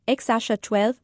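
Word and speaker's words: X Æ A-Xii: एक्सेई 12 मई 2020 में पैदा हुआ। उसका नाम एक्स-12 प्रोनाउंस होता है।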